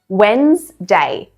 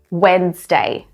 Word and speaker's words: Wednesday: So the first way, Wednesday, Wednesday. The D is basically silent here.